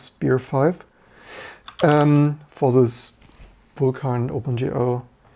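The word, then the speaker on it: SPIR-V: the new spear V what was the intended pronunciation what do I always say I always say spear V but I believe they want to pronounce spear five um for this buar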